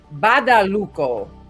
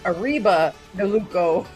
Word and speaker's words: Badalucco: He said, I love how you say my name, but it's pronounced Badalucco. Ari Badalucco. So I was getting the Luco part right. Oh, okay. They actually explained it. But I thought it was Arriba de Luco.